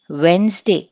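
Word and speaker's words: Wednesday: ఇది మనకి this ఇస్ వెన్స్డే అంటే డి ఈజ్ silent. Cough, L ఈజ్ silent.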